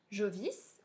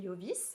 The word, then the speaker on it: Jovis: Jovis, ou on peut le prononcer Jovis en latin, c'était Jupiter, le dieu Jupiter.